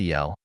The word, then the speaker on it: Al: Al, pronounced El, is a Chaldean word meaning, among other things, God or the Great One.